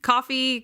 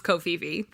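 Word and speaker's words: Ko-fi: fine no kofi but i don't actually know how you pronounce this website's name it's ko hyphen fi i would say kofi kofi that's what i thought too but then why they say buy me coffee but it's kofi but it looks like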